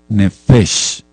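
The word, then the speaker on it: נפש: bueno por tu vida nef n de Nene e f de foco otra e la letra s y la letra h nefes y cuerpo es decir la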